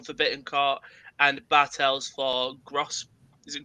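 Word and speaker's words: Groß: Füllkrug came on for Bittencourt, and Bartels for Gross. Is it Gross? It's spelled like GRO and then the weird B.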